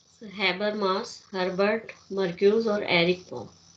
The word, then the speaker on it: Habermas: इसमें हम नाम लेंगे हैबर मास, स्पेलिंग यही लिखेंगे, हैबर मास।